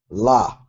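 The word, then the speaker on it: לָהּ: Next word, your lamed with your quamats, your hey, la, to her or for her.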